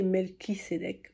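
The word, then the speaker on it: Melchisédech: nécessaire pour progresser alors melchicedek melchicedek prononcé melkisédeek ok est un grand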